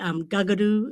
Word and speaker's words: Kakadu: C is also pronounced like a G. Gagadoo is another one for kakadu.